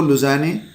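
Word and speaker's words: Lausanne: जो French acronym है उसके मुताबिक इसका जो उच्चारण किया जाता है, यह एक इंटरनेशनल ऑर्गेनाइजेशन है जिसका हेडक्वार्टर मिलेगा आपको लुज़ाने स्विट्जरलैंड में।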